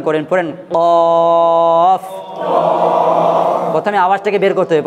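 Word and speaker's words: قاف: প্রথমে আওয়াজটাকে বের করতে হবে, প্রথমে আওয়াজটাকে বের করতে হবে, দেখেন কফ। হ্যাঁ প্রথমে একবার আওয়াজটাকে বের করে নিতে হবে, তারপর আওয়াজ আর বার করার দরকার নেই। এই দেখেন কফ, কফ, কফ, কফ, কফ, কফ।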